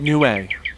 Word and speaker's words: Nue: It's why it's called Nue. The characters that spell it in Japanese are night and bird.